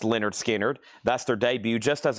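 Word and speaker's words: Lynyrd Skynyrd: Leonard Skard Pronounced Leonard Skinnard.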